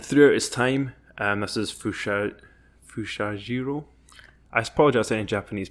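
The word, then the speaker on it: Fusajiro: And throughout his time, this is Fushajiro. I apologize to any Japanese people. I'm going to butcher all the names. Thank you. Fushahiro.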